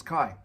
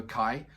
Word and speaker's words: Kai: I had a gentleman saying it's pronounced as car, so so Kai.